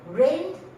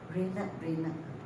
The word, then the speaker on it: rained: So rained, put ed, and then because of the word last, past tense. So do not pronounce rained. I have heard people rained. It's just rained, one sound.